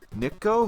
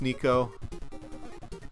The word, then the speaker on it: Niko: not that hard but everybody's like what is this niko nikko who uh and i like it it's nico okay and then like the